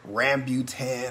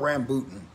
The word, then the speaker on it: rambutan: So before I get started, the Rambutan, because I was mispronouncing it yesterday and I was calling it Rambutan or whatever. It's called Rambutan.